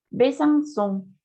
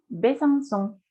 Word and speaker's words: Besançon: hoy jackson y son besançon besançon más allá de eso la comida abajo de la cee implica que debemos pronunciar la comuna tal cual no es el sonido no es sonoro casa o aguas son